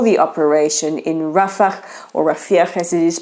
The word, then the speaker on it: Rafah: Israel has heard a lot of international criticism for the operation in Rafah, or Rafah as it is pronounced, many opining that it will create a horrendous humanitarian disaster.